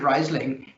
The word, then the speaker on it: Riesling: much for you perhaps if you can pronounce riesling that's obviously great that's sort of the entry card if you pronounce it riseling it doesn't matter because you have to